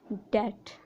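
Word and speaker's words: debt: अगर किसी वर्ड में एम के बाद या टी से पहले बी आता हो तो बी साइलेंट होता है। For example bomb, डेट।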